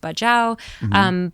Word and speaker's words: Bajau: It's in some countries it's pronounced Bajau, but it's one of these sea nomad groups.